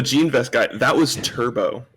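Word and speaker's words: Turbeaux: vest guy that was turbo turbo spelled t-u-r-b-e-a-u-x mind you i made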